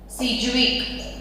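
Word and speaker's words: Sidgwick: सिज्विक। Spelling में डी है, बोलेंगे उसको साइलेंट रखेंगे, सिज्विक एंड पॉवेल।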